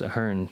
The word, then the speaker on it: Ahearne: was directed by Joe Ahern. I think it's pronounced Ahern because that's how they say it on the commentary.